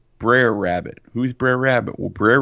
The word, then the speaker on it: Brer Rabbit: says daddy who's that how do you say briar rabbit no baby girl that's Brer Rabbit who's Brer Rabbit well